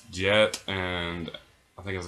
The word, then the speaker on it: Jet: It's spelled with J-E-T, but the announcer on the intercom of the stadium pronounced it as Jet, so that's what I'm going to go with.